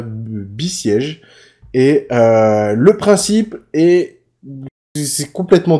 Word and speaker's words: Besiege: C'est BE siège, voilà, Besiege.